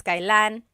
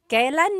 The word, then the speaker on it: kailan: And then just a pronunciation tip, it's pronounced kailan, kailan, but you will often hear it pronounced kailan, kailan. Kailan ang kasal? Kailan ang kasal? But it's not wrong to hear kailan ang kasal. It's a little bit more formal. Okay.